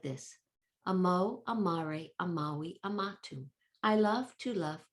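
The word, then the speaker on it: amavi: This one, third one, means I loved, amawi. The V is pronounced as a W.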